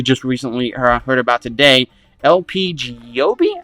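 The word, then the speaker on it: LP Giobbi: recently heard about today lpg yobe i believe is how you say her name and she's pretty dope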